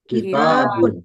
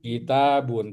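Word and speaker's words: كِتَابٌ: Ee kalau buku kitabun kitabun tnya panjang ya.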